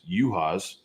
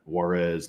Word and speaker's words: Yuhas: am this is Max yuhas that's the proper way to pronounce it not Juarez not Jonas not Gerard and unfortunately I've cursed my